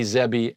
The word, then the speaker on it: zebi: So it's me-bi, kibi, mebi, gibby, tebi, pebi, egsby, zebi, and yabi. That's how you pronounce them.